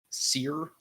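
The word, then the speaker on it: Cere: like you're talking to, what's her name? Sierra? Seer? Seer. It's spelled weird? Seer. Yeah, but it's spelled with an A at the end, right? Yeah, an E. C-E-R-E. There you go, Seer.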